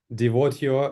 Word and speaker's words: Devotio: So if I right understand, your white label brand names Devotio Rewards. It's right pronunciation, or am I wrong? Yeah, that's right. Yeah, that's right.